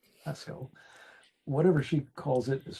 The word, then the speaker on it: Pascal: introduce is Pascal I've called her Pascal but I think she pronounces it Pasco whatever she calls it